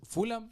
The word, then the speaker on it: Fulham: Un equipo de la Premier y y Fullampio no se dice y Fulan se dice Fulham.